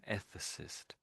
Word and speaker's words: ethicist: We're putting we're putting in a sort of a a sort of sound here. And there's no obvious a sound right there. It looks almost like an a. We're almost sticking an a sound in here somewhere.